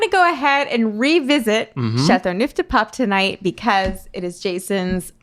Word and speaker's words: Châteauneuf-du-Pape: Châteauneuf-du-Pape. Okay. Yeah, that's what we learned from the internet today. Is it was called Châteauneuf-du-Pape. No, it's actually pronounced Châteauneuf-du-Pape.